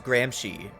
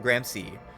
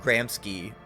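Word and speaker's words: Gramsci: Uh uh Grahamsky. Apparently you you say his name is Grahamshy or Grampsky. Not Grahamsky, but whatever.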